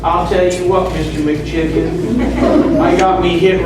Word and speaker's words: McKichan: New Jersey Devils, and they called me McKichan. I also did a clinic one time in Kentucky. My name's actually pronounced McKichan.